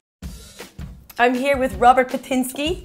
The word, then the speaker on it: Patynski: I'm here with Robert Patynski.